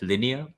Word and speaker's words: Linea: the test net for your Layer Two like linear is that how you pronounce it ooh open question I'm not going